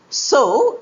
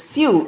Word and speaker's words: sew: and s o w so is to plant seeds. The taylor agreed to sew my dress in a day. Often mispronounced as sue. It's not sue, it's so the farmer is going to sew rice next week.